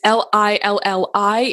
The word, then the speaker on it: Lilli: It's Lilli. It's like Lillian without the N.